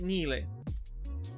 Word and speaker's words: Nile: Basically, Nile. That's how you pronounce it.